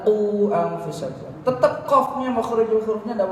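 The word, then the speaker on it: قوا أنفسكم: Kalau dhammah qu, bukan ku. Zayan kan ku bacanya. Ku anfusakum, padahal qu anfusakum.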